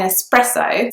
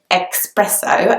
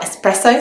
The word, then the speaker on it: espresso: ordering an espresso so a lot of people in London actually seem to think that it's pronounced expresso as if there was an X in the word but in fact there isn't an X in the words there is just an S so the word should